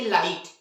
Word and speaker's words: light: तो GH कब silent होता है, बहुत ही सिंपल है,